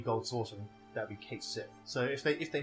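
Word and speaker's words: Cait Sith: would probably be like i am just going to say it's pronounced and i've always called him kate sith most people watching this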